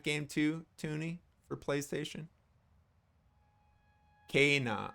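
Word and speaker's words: Kena: Kana. Oh, it's pronounced like Kana. Kana. Spelled Kenna, pronounced Kana.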